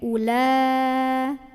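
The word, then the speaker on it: أولئك: 4 atau 5 ya Nah hati-hati waunya ini wow Nggak ada harokat Jadi u-nya pendek ulah ulah ya nah hati-hati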